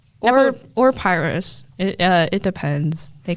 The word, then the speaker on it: Pyrrhus: Neoptolemus. Or Pyrrhus.